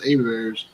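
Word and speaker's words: Hebert's: It looks like it's spelled Herbert's, but it's pronounced Abears.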